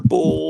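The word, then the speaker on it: Boulle: It was like uh you know, kind of like the Pierre Bull or Boule or however you pronounce it. is pronounced bull.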